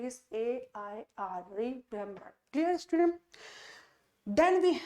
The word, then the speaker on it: Eyre: और इस एयर का प्रोनाउंसिएशन क्या है? इस एयर का प्रोनाउंसिएशन है AIR।